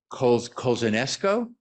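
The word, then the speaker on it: Kozachenko: And during the 1970s, 2 first admittedly gay public officials, Kathy Kolzanesco, that's the pronunciation, in Ann Arbor, and Harvey Milk, even more famously in San Francisco, was elected.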